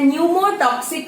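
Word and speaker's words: pneumotaxic: अब जो Pond's of mid brain में लोकेटेड होता है, उस सेंटर को हम बोलते हैं न्यूमोटॉक्सिक सेंटर और पी साइलेंट है, न्यूमोटैक्सिक सेंटर.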